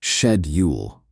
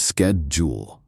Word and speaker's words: schedule: Consider the word schedule. In Britain, it's commonly pronounced shedule, while in the US, it becomes skedjul.